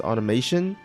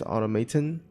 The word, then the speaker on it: Automaton: of people at first I thought it was pronounced as automation but there's actually no I in there so it's actually pronounced has automaton but I think automation